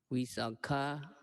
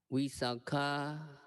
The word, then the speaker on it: Visakha: If the person is a woman, the name is pronounced Visakha with a long A. If a person is a man, the name is pronounced Visakha with a short A.